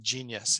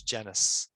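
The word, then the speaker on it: Genuis: kept saying genius and he's like, it's genus.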